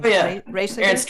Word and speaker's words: Reijseger: by Ernst, I'm probably going to say his name wrong. Oh, yeah. Reijseger? Ernst Reijseger, yeah.